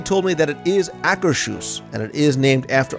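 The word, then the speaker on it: Akershus: email and they told me that it is acrus and it is named after a real World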